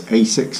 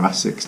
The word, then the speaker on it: ASICS: And I've also got here these Asics or Asics, depending on how you pronounce it.